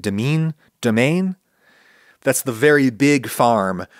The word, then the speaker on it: demesne: It looks like demesne in French, but it's pronounced, I think, domaine?